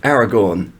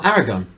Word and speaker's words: Aragorn: maybe Ben's right let's also talk about your pronunciation of Aragorn well Eragon you call them Eragon yeah I'd like to